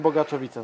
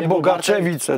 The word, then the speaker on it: Bogaczowice: Bogaczowice cofniecie i zobaczcie mówiłem Bogaczowice na pewno Okej nie bogaczewicę tak Bartek natomiast uczulał